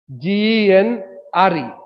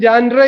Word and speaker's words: genre: G-E-N-R-E. What is genre? It is pronounced as genre. Though the spelling is G-E-N-R-E, the pronunciation is genre.